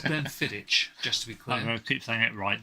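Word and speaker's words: Glenfiddich: to say it again I like to Glenn fidic that's right yes you do it's Glen fit just to be clear I'm keep saying it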